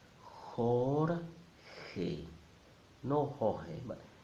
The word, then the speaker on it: Jorge: sound horn hey no Jorge Jorge two syllables then we have the